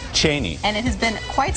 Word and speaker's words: Cheney: record straight on something Chris Matthews says it's pronounced Cheney and the family pronounces it that way Liz Cheney how do you pronounce your last name I pronounce it Cheney Cheney and it has been